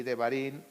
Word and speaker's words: Devarim: Ahorita estamos ya en Shemot, Vaikra, Levítico, Bat Midbar, Números y Devarim, Deuteronomio.